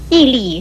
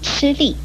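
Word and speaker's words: 屹立: 我们要特别注意的是，屹立是不能够念成吃力。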